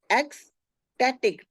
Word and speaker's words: ecstatic: ECS एक्स, बीच का सी जो है क की आवाज आती है. एक्सटेटिक, TATIC.